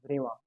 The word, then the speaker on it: Brillouin: In India, we say it's Brillouin zone, but that's not correct. It's a French name. So the exact pronunciation of this is Brillouin.